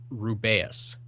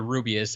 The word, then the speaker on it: Rubeus: So apparently Jim Dale says Rubeus. Oh, no. As opposed to Rubius, as they say in the movies.